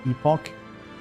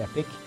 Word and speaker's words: epoch: Epoch. Not the epic.